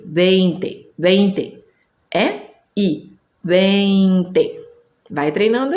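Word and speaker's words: veinte: Que, de novo, não é para ditongar, não é IE, é E-I, 20. Não pode falar viente, é 20, 20, 20.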